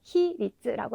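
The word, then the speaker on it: 比率: 다시 한번 보시면 인솔은 인소츠, 네, 비율은 네, 히리츠라고 읽어주시면 되겠죠.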